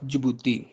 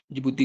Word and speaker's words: Djibouti: और फोर्थ है हमारे पास जिबूती, जिबूती के स्पेलिंग आप लिख लें, DJIBOUTI, जिबूती।